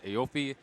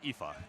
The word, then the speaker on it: Aoife: Tetris 4, which has Aofi, Kiradev, Rose, and Storm and Norman. Yeah, it's actually pronounced Aoife.